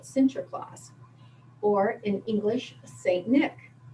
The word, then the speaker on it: Sinterklaas: a santa claus and that's how they say it sinterklaas or in english saint